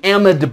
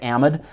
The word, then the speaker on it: amide: go ahead and write amide. For anyone who's watching this from Great Britain, I think, and Australia, you guys might pronounce it amide. Yankees out here say amide.